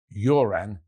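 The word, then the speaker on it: Göran: Of course, the G is often soft in Swedish. Remember the late Sven Yuran Erikson.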